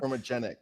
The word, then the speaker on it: chromogenic: The chromogen. Am I saying it right? Chromogenic. Chromogenic. Okay. Yeah, chromogenic.